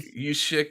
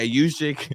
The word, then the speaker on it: Juszczyk: Jerzik or whatever? I don't even know how to pronounce his last name. The only Juszczyk, yeah. Yeah, Juszczyk, the only famous fullback in the NFL.